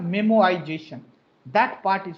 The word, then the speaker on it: memoization: Plus memoization. Memoization. Please don't pronounce memorization. It's a memoization.